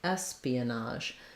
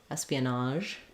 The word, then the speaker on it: espionage: saying the ah vowel Espionage and the letters GE say the sound like in